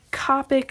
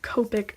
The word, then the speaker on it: Copic: And it's Copic, not Copic.